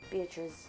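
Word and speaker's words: Beatriz: I don't know how, every time I look at her last name, it looks like it's pronounced, you say it a different way that it's spelled. And I know that's not accurate, but all I can see in my mind is the spelling.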